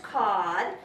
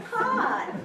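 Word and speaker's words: cord: It's a measurement for wood, spelled C-O-R-D, but pronounced cod, and it's what you use to plug an appliance into an electric outlet. It's a cod.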